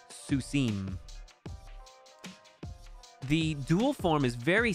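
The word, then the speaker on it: סוסים: Pronouncing that im sound. So in the case of sus, we have susim.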